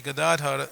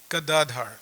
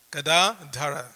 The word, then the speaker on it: Gadadhara: about how to pronounce Gadadhar, but it's there on the screen. It's Gada, long A, Dara, not Gadadhar. There's no long A in Dhara, it's Dara. Gadadhara.